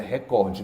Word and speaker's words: recorde: por favor pronuncia hã Record Record muito bem nada de Record Nacional todo dia diz recorde mas é recorde CREA em mim é